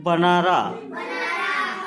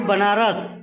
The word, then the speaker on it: बनारस: Hot humid afternoon in बनारा। बनारा नहीं, बनारस। क्या है? बनारस। बेनारस नहीं, स्पेलिंग वैसी बनती है बनारस की।